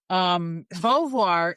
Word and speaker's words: Beauvoir: Beauvoir, which is a Beauvoir. historical Oh, Beauvoir, as a Beauvoir.